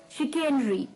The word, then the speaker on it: chicanery: तो चलिए, the 14th word for the evening is chicanery. इसकी pronunciation थोड़ी सी अटपटी है, chicanery.